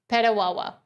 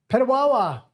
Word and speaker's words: Petawawa: Mike Freedom Money says, guys, pronouncing it right. Petawawa. Petawawa.